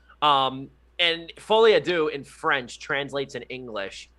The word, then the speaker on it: Folie à Deux: French makes Americans nervous, but it's pronounced Folie à Deux. And Folie à Deux in French translates in English to Madness for Two.